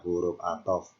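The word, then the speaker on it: حرف عطف: Kalau diperbesar seperti ini, yakni tulisannya berbunyi harfu atofin, bacanya huruf atof.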